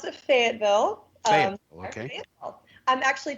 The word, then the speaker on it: Fayetteville: But you grew up in Fayetteville, Arkansas. So what was it like growing up where you grew up in Fayetteville? Well, we pronounce it Fayetteville.